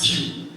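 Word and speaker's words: queue: To my extreme left, what is the only word in English which will be pronounced the same even when the last 4 letters are removed?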